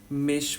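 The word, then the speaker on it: Mischmetall: इज़ मिश मेटल। आपका जो मेश मेटल होता है हम इसको देखो स्पेलिंग लिखते हैं हम एम आई एस सी एच पर इसको प्रोनाउंसिएशन हम करते हैं मेश ठीक है तो ये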